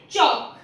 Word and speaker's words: chalk: एक और केस है जब भी के पहले एल आ जाए तो भी एल साइलेंट होता है। जैसे TALK टॉक, टांक नहीं होता है वो। WALK वॉक, CHALK चॉक।